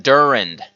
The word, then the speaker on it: Durand: No, it's something Durand. Kevin Durand. Yeah. So I was right. I just mispronunciated. Kevin Durand.